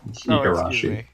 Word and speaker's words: Igarashi: It's Igarashi. Oh yeah, that would make sense. I've just always pronounced it with the, like, how it appeared in the credits of IGA, the end.